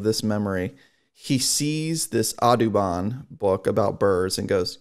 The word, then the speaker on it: Audubon: knew the association of this audubon which is yeah autobahn spelled differently pronounced differently yeah cause my thought